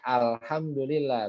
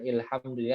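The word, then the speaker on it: الحمد لله: berarti hamzahnya dibaca fathah makanya tadi dibacanya Alhamdulillah bukan ilhamdi atau hukum Alhamdulillah kita bacanya ar-rahman bukan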